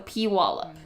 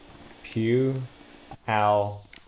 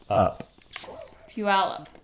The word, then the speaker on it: Puyallup: pronounce it yeah yeah q ow up yeah yeah so like like a church pew pew yeah develop pure out Q out yeah peer out there's pew al Puyallup yes pew music Jeff